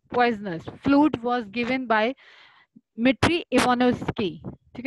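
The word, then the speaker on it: Dmitri: Fluid was given by मिट्री Ivanovsky, ठीक है, D silent रहता है, मिट्री इवानोव्स्की, इन्होंने दिया था 1892 में।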